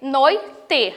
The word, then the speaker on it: noite: E tem um lembrete para vocês assim, ó, a letra E em final de palavra costuma ser pronunciada com som de I, foi o que eu acabei de falar agora para vocês.